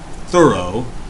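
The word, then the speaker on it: Thoreau: bit from from uh thorough thorough how it's pronounced properly this week okay and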